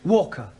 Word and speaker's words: Walker: Walker. What? W is pronounced W.